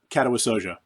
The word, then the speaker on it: Katawa Shoujo: How do you say Katawa Shoujo?